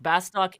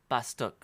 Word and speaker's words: Bastok: Like, Bastok is supposed to be Bastuk. It is supposed to be Bastuk. And I believe the reason is... Don't quote me, I'm not certain of this. I believe the reason is there was supposed to be an umlaut over the O, but they couldn't do it. Because the katakana is Basutuku.